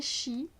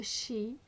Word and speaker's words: Sidhe: le Tarot of the Shi. C'est comme ça que ça se prononce. Je sais que c'est pas comme ça qu'on a envie de le lire, mais c'est comme ça que ça se dit, que ça se prononce.